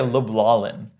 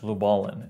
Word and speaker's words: Lubalin: avangard was it was actually designed by herb lubalin I think that's how he pronounced the name it looks like luin but it's actually pronounced lubalin and and I thought it what is that